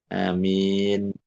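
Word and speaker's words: آمين: Amin. Jadi e nunnya harus mati gitu ya. Harus harus sukun amin. Jangan disambung karena kalau disambung jadi nunnya di fathah liltiqoisakinain.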